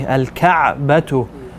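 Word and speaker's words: الكعبة: Yeah, make sure those ayns are heavy. Al-ka'batu.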